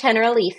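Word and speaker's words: Generalife: which was visiting the Hen Lee Gardens. Did I say that right? You did. It's spelled like general life, but it's pronounced in Spanish, Henrife.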